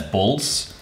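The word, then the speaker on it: Bols: last name was b-o-l-s so in dutch that's bulls and that's how they pronounced it so they went to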